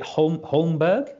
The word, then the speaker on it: Holmberg: Is it Holmberg? Am I pronouncing that right? Yeah, yes. That's the English way of pronouncing it anyway. I think so. You would know better than me. Yeah, I think that's the sort of international way of saying it.